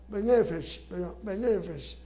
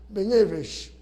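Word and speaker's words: בנפש: lo sustentan con la frase benefes, acento en la segunda benefes, que en el hebreo hace referencia a qué, nefesh, alma, al alma.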